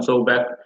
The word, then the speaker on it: Sobek: Does anyone have thoughts on Sobek? It's pronounced Sobek.